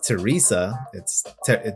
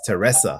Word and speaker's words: Teresa: I know it's Teresa, but here it's pronounced Teresa.